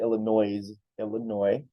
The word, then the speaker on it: Illinois: So in our beautiful state of Illinois, remember the S is silent, so they'll be like, I'm living in Illinois.